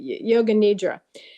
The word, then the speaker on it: yoga nidra: whole and I'm I'm not sure if I'm pronouncing it right is it na yoga n a d a yoga nidra nidra okay yoga nidra so the whole idea was to and it